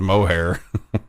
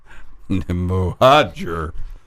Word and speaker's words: Mohajer: I thought it was mohair. Mohajer.